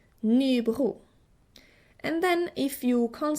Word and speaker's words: Nybro: The southern third of Sweden says R. A little bit like the French R. Nybro.